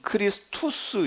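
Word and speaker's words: Christus: 헬라 헬라어로는 크리스토스 얘기하고 로마 라틴어 발음으로는 크리스투스 이렇게 발음하는 거예요 그래서 크리스투스 원래 이것도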